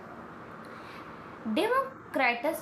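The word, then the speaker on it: Democritus: डेमोक्रेटस जो था डेमोक्रेटस या कुछ भी प्रोनाउंस इस तरह से कर सकते हैं। ठीक है? आपको पता है इसको कुछ लोग क्रेटस पढ़ते हैं और कुछ लोग क्राइटस पढ़ते हैं।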